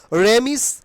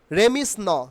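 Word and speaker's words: remiss: বাট এই ভিডিওতে তোমরা শিখে নাও রেমিস। রেমিস নট রেমিস, উচ্চারণ হবে রিমিস।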